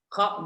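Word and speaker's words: خ: Sebenarnya yang benar itu bukan yang kasar banget, bukan yang kho, nggak sampai kayak gitu. Kho biasa, kho.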